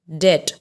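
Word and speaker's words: debt: The first word is det. Here, as I told you, that when B comes after T, we don't pronounce it. So here B is silent.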